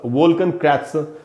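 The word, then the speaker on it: Wolkenkratzer: वोल्कन क्रैत्सर यह लिखा मैंने, ये जर्मन लैंग्वेज में लिखा है और इसका उच्चारण होगा वोल्कन क्रैत्सर।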